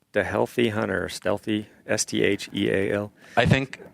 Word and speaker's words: StHealthy: It's your brand. You can pronounce it how you want, but when I have to explain it to people, it's always StHealthy. Yeah, that's how I say it, just so they know the H there.